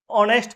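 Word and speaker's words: honest: एच हमारा letter है first. कोसोनेंट है पर साउंड क्या है? ऑनेस्ट person. एच साइलेंट हो जाता है।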